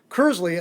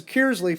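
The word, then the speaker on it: Kearsley: immediately when somebody's from an outsider because it's cursely the natives pronounce it it's kiersley from the outsiders so i mean i don't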